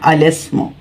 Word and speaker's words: الاسم: ساکت ہو جاتا ہے۔ الاسم، الاسم، الاسم، اسے اس طرح سے پڑھنا ہے، الاسم، یعنی الف جو ہے اسم کا یہ الف تلفظ سے ساکت ہو جائے گا، الاسم۔ اب اس کی یہ